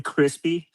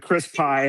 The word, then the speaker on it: Crispy: And it's you could call me Crispy. I I try to lowerase the P. So, it was a little easier to pronounce, but Crispy. Perfect. Crispy. But Chris Pie, I'll accept them all.